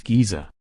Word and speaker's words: Giza: already he asked this Giza Hassan agreed he pronounced it more like J I always thought the